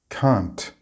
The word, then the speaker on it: can't: Also remember that we need to ensure we pronounce the t sound in the negative of can, can't. If you don't, then you will be misunderstood to have said the complete opposite of what you meant.